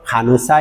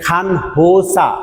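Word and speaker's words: 간호사: আপনাকে যদি প্রশ্ন করা হয় খানুসা ইমনিকা, খেয়াল করেন এখানে খান হোসা, খান হোসা এরকম হবে না, এই নিয়নের সাথে হিয়তের একটা সংমিশ্রণে উচ্চারণ হবে খানোসা, খানোসা, খানোসা ইমনিকা নে খানোসা ইমনিদা।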